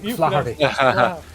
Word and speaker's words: Flaherty: Yeah, you Flaherty. Yeah. Yeah, Simon's going to pronounce that. Just get a bit of gravel, right? It's a bit more of the gravel in the back of the throat.